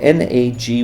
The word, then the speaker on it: Nagy: of Earth may not it's spelled na Gy but I believe in Hungarian it would be pronounced Nagy so please note that